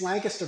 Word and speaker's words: Lancaster: No, it's Lancaster, but most people say Lancaster, but us Yep. locals know that it's Lancaster.